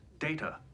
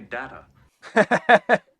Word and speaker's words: Data: data what my name it is pronounced data oh you called me data what's the difference one is my name the other is not yeah come on